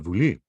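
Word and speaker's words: Βουλή: in modern-day greece uh the name for the parliament is the vuli which is just the modern pronunciation of the boule whatever the case may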